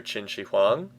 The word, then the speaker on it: Qin Shi Huang: Yeah, China is literally named after Qin Shi Huang. It's literally named after him. Don't be fooled by the Q. The Q is pronounced like a CH sound in Chinese, as I understand it.